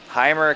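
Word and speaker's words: Jeimer: Heimer Candelario? Candelario is pronounced for the last one. My first name's a little tough for me. I'm going to guess the J is an H sound, so Right.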